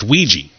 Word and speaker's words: Ouija: am i holding a Ouija board a Ouija board and they spell it weird but it does say it does I guess it's pronounced Weegee I write a Ouija board